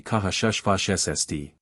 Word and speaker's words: Karshfasht: His name is difficult to verbalize, Karshfasht, pronounced throaty Kahashushfashsd.